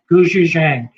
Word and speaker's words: gochujang: But you can sort of see the Pronounce it again. gochujang.